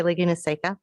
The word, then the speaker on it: Laguna Seca: report that lagoon is taken with weathertech raceway laguna seca i'll say it correctly events continue to attract